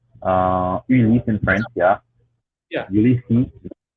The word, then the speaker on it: Ulysse: I pronounce it Ulysses. I say my name is Ulysses, but Ulysses. but other people in my family they'll say Ulysse or Ulysse. So there's multiple ways Uh-huh. to pronounce it.